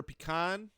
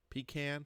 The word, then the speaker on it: pecan: Number nine, butter pecan. Pecan. Pecan. That's for both pronunciations there for you.